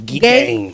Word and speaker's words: Gein: Es que bueno, son pronunciaciones un poquito, yo lo he oído de la español podemos decir game game. Pues game, venga, aunque creo que se dice gin, ¿sí?